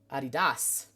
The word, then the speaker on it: adidas: things weird weirdly um adidas is a pronounced adidas did i say hi